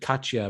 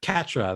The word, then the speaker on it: Catra: to react you know i almost said katya but katra yeah well oh cat catra they said yeah that's how they pronounce the catra so how is she